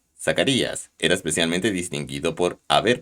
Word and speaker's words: Zacarías: final de su reinado un sacerdote llamado zachary has de ser pronunciado zacarías es decir jehová se